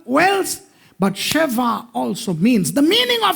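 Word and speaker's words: שבע: Sheva.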